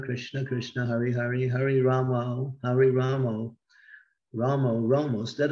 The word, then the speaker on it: Rama: Krishna, Hare Krishna, Krishna Krishna, Hare Hare, Hare Rama, Hare Rama, Rama, Rama. Instead of saying Rama, they say Ramo. And Prabhupada was very strict about avoiding this Ramo instead of Rama.